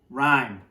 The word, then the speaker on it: Rime: the ancient mariner okay but rhyme is spelled r i m e rhyme which is like a